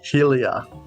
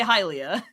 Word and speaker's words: Hylia: oh another growing up one word that i'm sort of embarrassed i used to get so horribly wrong was hyalia i used to pronounce that helia that was the same thing for me for a long time i actually said helia now i say hylia and helium shield yes